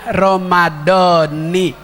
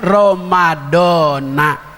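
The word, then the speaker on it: رمضان: Kalau kita belajar nahu sama Kiai Haji Bunyamin, bacanya Ramadhani. Kalau kita belajar nahu sama Kiai Bunyamin, Ramadhani. Kalau kita ikuti yang umum, Ramadhana. Ramadhana puasanya sah, Ramadhani puasanya sah.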